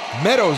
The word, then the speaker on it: Meadows: o and one and I said it wrong it's Meadow Meadows is on third base